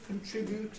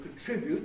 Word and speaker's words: contribute: and so on, because people are beginning to lose the habit of saying contribute, which is what they always used to say, which broke the rule, in fact, and they're now saying contribute.